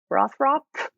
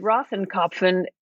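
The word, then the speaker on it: Rothkopf: How did you pronounce the last name? I think it's Rothrop, something like that. David Rothenkopf, you just came off that podcast.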